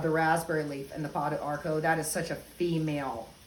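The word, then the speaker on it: pau d'arco: We've got pod arco. Anybody's familiar with that? That pod arco, and it's spelled P-A-U-D, arco.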